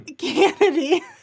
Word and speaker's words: Cannady: Cannady. I always pronounce it weird. Well, that's because technically Cannady is my married name.